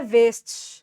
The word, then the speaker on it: waist: इसकी प्रोनाउंसिएशन लिख लेना, ये वर्ड है एल्बो। एल्बो, ठीक है। इसे बोला जाता है वेस्ट, WAIST, WAIST, इसे बोला जाता है वेस्ट यानी कमर।